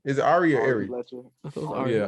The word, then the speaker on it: Ari: irie whatever how you say her name is arya oh yeah ari ari fletcher um basically she was on a